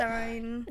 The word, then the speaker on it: Berenstain: Oh, Berenstain, okay, I've heard of that. Berenstein. So Berenstain Bears, we think it's spelled Berenstein like Stein, but it's spelled Berenstain like Stain.